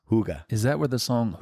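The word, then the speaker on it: hygge: love in in Denmark they use the word Hugga Hugga h y g g e pronounced Hugga is that where the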